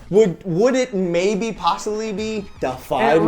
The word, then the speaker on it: Defy: Would it maybe possibly be Defy It Media? rhymes with Blafai.